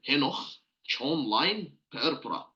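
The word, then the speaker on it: Henoch-Schönlein purpura: it's this H Pera if you're planning also to pronunciate it in German H Chon line Pera H Chon line Pera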